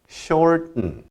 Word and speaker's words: shorten: 그리고 발음 힌트를 하나 드리자면 shorten 이렇게 하는데 이것을 미국 사람들이 발음할 때 보면 shorten 그래서 short 한 다음에 그냥 은 붙여버립니다.